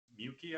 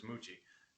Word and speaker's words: Muchi: to go rescue uh mukey i think it was mookie mukey or mookie um muchi i'm sorry muchi that's right it was moochie um i can't believe i was saying it wrong the they were they